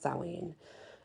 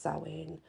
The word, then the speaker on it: Samhain: day and the Samhain by the way it's pronounced saline and spelled Sam Hein pronounced saline but for sowing um is Halloween and I've